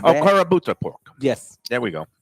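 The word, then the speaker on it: Kurobuta: It's called calabuto. Calabuta. It's a Japanese pork. Wagyu, Okay. Oh, like wow. a back- karabuta pork.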